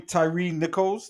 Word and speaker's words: Tyree Nichols: in peace all right uh what's his name Tyree Nichols that's how you say his name R.I.P rest